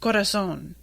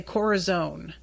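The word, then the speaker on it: corazón: try and explain, like, it's pronounced corazon and they say corazon. Does that sound like what I just said to you? Does corazon sound like corazon? Does it sound like what I said?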